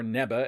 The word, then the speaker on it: Neva: The elderly Namekian Neva, or Neba as some are pronouncing it, appeared to be the one who unlocked the form for Goku through magic.